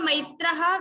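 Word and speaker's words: maitraḥ: According to rules, there is visarga, maitraha, visarga. So ha sound should come.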